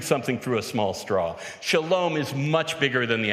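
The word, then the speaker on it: שלום: but as a a Shalom agent because what broke out on that stage was thriving which in Hebrew is pronounced shalom shalom is the word that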